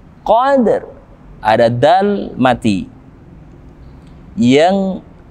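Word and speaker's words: القدر: lembut lailatin kode Hai ada alif lam yang bertemu denganmu khovd kita hukum tajwid dengan the year Komariah atau alif lam yang kita baca dengan jelas al-qadr ada dan mati Hai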